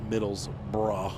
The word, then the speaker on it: Middlesbrough: Oro but they just the way they said it or whatever they ended up writing it middles bra like b ro ug h middlesbrough and that's how they pronounce it now here's our rest